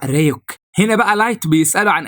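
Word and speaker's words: Ryuk: بيقطع لايت بيتاكد ان رايك جاي وطبعا بيحب التفاح فبيحط له التفاحه بيدخل رايك وبياكلها وبيعرفه ان النطق الصحيح لاسمه هو ريك هنا بقى لايت بيساله عن اهميه مذكره المود دي وازاي يقدر يستفيد منها.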